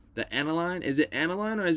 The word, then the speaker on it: aniline: And since it goes through a more That's how you natural pronounce it, process, aniline.